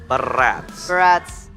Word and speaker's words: Barats: Barats. Wait, Barats rhymes with? Strats, right?